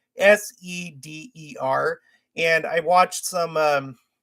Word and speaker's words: seder: that the name of the meal is called sader it's spelled s-e-d-e-r and i watched some um you know services